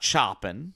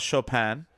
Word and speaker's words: Chopin: Not Chopin, you know, a lot of people would pronounce his name, so Frédéric Chopin. A little bit about Chopin.